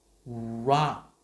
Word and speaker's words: rock: Ok, các bạn nhìn kỹ chứ. Đó. Rock. Chứ không phải là, không phải rock, không, còn đá mà khi các bạn hay đọc là rock, à, rock, rock. Ok, cái âm này là âm o, Rock.